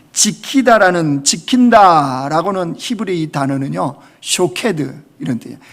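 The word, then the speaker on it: שֹׁקֵד: 그런데 이 지킨다라고는 히브리 단어는요 쇼케드 이런 뜻이에요. 샤케드, 쇼케드. 그러니까 이게 발음이 비슷한 거죠.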